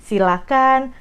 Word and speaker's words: silakan: kan kita bedah dulu Ini dari pronounciationnya jangan pakai ha itu yang paling penting Jadi silakan persilahkan jangan pakai itu